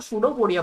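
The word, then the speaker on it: pseudopodia: उसको सूडोफोडिया बोलते हैं अपन। ठीक है ना? थोड़ा प्रोनंसिएशन अलग है, स्पेलिंग भी अलग है। तो ये ध्यान रखना।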